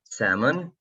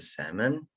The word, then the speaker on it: salmon: and here as well salmon it's a silent l this one is a salmon and broccoli broccoli